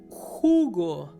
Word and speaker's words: jugo: For example, jugo, juice. Jugo, jugo. So yeah, it sounds a little bit like my name, juice, jugo, Hugo, jugo. But in this case, you pronounce the letter J.